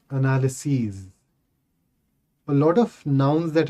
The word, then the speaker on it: analyses: The plural of analysis is and it is pronounced as analyses.